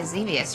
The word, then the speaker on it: Xevious: I guess that's why Xevious rhymes with devious.